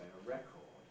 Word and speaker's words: record: the noun a record americans sometimes weaken the second vowel and say record but on the whole in british english we don't we keep a strong vowel always in the second syllable and say a record and towards the bottom